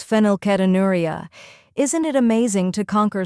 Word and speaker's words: Phenylketonuria: slowly filo new now let's say it faster fenel ketonuria fenel ketonuria great work did you know fenilcetonuria or PKU